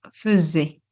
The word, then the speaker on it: faisait: Fais fa On ajoute un S et on prononce Z. faisait.